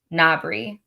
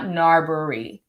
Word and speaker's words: Nobre: the other day about how i pronounced it nobre not narbori nabri got it so it happens and